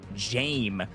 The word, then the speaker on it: Jame: but also NAS and Jame by the way is how that's pronounced. I've been seeing it in the chat. They've been helping me out. Jame, y'all can tell me if I got it right this time right.